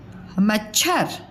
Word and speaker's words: मच्छर: मच्छर, देखो मच्छर मच्छर। म च की साउंड कम आ रही है, मतलब उसका उच्चारण में लगने वाला जो समय है वो कम है। मच्छर मच्छर।